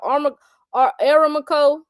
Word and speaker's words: Aramco: I don't know how to pronounce it. ARAMCO. I know. What's it called? Aramco, what's that?